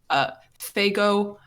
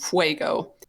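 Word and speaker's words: Faygo: What is this called? Fago. For the whole time, I thought it was called Fuego, and the cashier laughed at me when I pronounced it that way.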